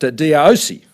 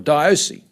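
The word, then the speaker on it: diaosi: Carl Minzner, in his book End of an Era, refers culturally to a phrase, and others may assist me with the pronunciation, but Diosi, or Diosi, I think it's referred to, D-I-A-O-S-I.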